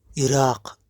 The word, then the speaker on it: عراق: عراق ننطقونه إراق، نكتب عراق.